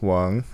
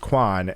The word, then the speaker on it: Quan: My name was actually, it's spelled Quan. So it's actually pronounced Wang, but phonetically in English it's pronounced Quan.